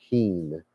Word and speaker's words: hin: he we're on Heen it's not h like a chicken it's Heen is how you spell the word or spell pronounce the word then it says zedek